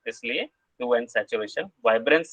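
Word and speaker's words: hue: ह्यू को एच को साइलेंट भी कर सकते हैं आप, तो यू भी बोल सकते हैं।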